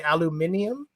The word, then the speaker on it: aluminium: Me and a British friend got into it about aluminum because in Britain they say aluminium. Aluminium. That's Yeah. how it's spelled.